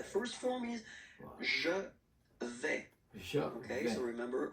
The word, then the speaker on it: vais: je vais. Je Okay, vais. so remember, I final go. S not pronounced Je here. vais. Je vais. Okay, when you combine this A-I, you get the sound E, really open.